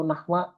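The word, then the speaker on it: نحو: Jadi nanti enggak usah bingung dibacanya nahwu atau nahwa. Kalau kita baca kitab dua-duanya benar. Oh, kalau nahwi, Ustaz enggak bisa.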